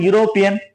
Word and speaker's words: European: So once you pronounce the word European, yeah, you can pronounce the word. You can sense the word letter ya.